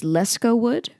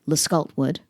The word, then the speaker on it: Lescault-Wood: Apparently it's Lescault-Wood, but I've always said Lescault-Wood, or just called him LW or LDub because efficiency.